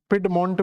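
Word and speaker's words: Piedmont: आपको मिलता है जिसका नाम आप देखोगे तो पिड मंट करके आपको एक स्ट्रक्चर मिलेगा तो अपलेसियन पर्वत के बिल्कुल दक्षिणी हिस्से पर जाओगे तो पेड मंट करके आपको एक स्ट्रक्चर मिले जाएगा पिड मंट भी बोल देते हैं इसको पिड मंट तो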